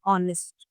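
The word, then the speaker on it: honest: तो और कभी-कभी कुछ वर्ड्स में ये साइलेंट भी होता है। जैसे कि हमने पहले भी बात की थी एक एग्जांपल की ऑनेस्ट। वहां पर एच जो है स्पेलिंग में है लेकिन साइलेंट है।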